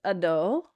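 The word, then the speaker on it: Adho: all of them um so it is a short a so it's Ado Ado uh uh Ado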